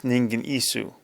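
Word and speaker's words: Ningen Isu: The way we would pronounce it is Ningan Isu.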